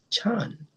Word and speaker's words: Chan: In Chinese, it is pronounced chan.